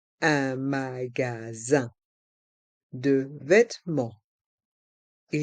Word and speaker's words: magasin: Dans le mot magasin, il y a le son un avec les lettres I et N. Et le S est entre deux voyelles, donc on le prononce Z. Un magasin de vêtements.